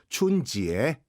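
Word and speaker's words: 春节: 근데 이것을 중국어로 하면 춘지에. 춘지에는 중국어죠.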